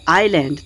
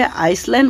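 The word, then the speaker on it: island: আইল্যান্ড কথাটির অর্থ হলো দ্বীপ, আই এস এল এ এন ডি, এটার উচ্চারণটি হবে আইল্যান্ড, তোমরা ভুল করে আইসল্যান্ড বলবে না।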